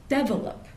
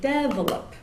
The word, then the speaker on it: develop: other dialects for example in Indian English they'll often put the stress on the first syllable so they'll say develop which would be develop which is almost the